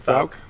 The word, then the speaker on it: Fouke: Fouke.